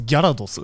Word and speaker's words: Gyarados: Because in Japanese it's Gyarados.